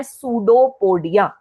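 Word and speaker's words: pseudopodia: Projections को बोलते हैं सूडोपोडिया। क्या बोलते हैं? सूडोपोडिया। सूडोपोडिया में याद रखेंगे पी साइलेंट होता है।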